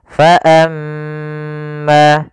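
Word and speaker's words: فأما: namakan dengan bacaan ghunah cara membacanya yaitu kita tahan surah mnya faamma faamma baru dibaca kemudian faammalladzina di sini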